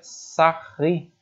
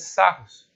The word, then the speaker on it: Sarrus: E se escreve Sarros, mas é um matemático francês, a gente pronuncia Sarri. Tá? Então você vai ouvir muita gente falando regra de Sarros. Então, Sarros, Sarri. Sarri seria o correto.